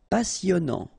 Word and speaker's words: passionnant: Okay, here you pronounce the double S because you've got a vowel, so it's really a strong one. Passionnant. Final T not pronounced. And then here you get this en sound. Passionnant.